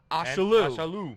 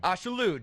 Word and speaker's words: Ashaolu: Rhymes with absolute. Ashaolu. Ashaolu.